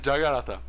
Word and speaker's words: jagarata: draw jagarata it's even everyone mispronounced need to understand this is jagarata and we will make